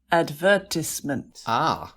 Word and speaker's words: advertisement: Advertisement. So that's the British pronunciation. Yeah, or an advertisement. Excellent USA English.